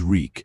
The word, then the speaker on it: Reek: My name is Reek. It rhymes with weak.